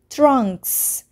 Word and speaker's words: trunks: كيف لفظنا نهاية كلمة trunks؟ الاس هنا لفظناه بصوت حرف الاس trunks.